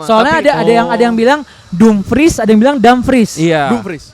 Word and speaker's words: Dumfries: Jadi yang benar Betul, Dumfries ya. Dumfries. Itu udah Ini- pronounce Belandanya.